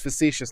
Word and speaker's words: facetious: words that have similar definitions and but they're pronounced yeah so that that was my bad on the facetious fatuous thing it's facetious not fat was fatuous is a different word